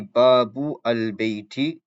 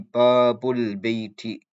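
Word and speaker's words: بابُ البيتِ: So you don't say Babu al Bayti, you say Babul Bayti, Babul Bayti.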